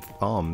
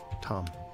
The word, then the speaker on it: Thom: Somebody was pronouncing his name Thom the other day. Like, no, the H is silent. Tom.